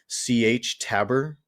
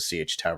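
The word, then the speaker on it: Sietch Tabr: which is CH tabber I I don't know if that's actually how you pronounce it but that's what it seemed like uh people were calling it and I think actually saw a recording of uh Herbert kind of narrating or maybe he was he was just talking about certain parts of the story and he himself pronounced it CH tab so I'm just going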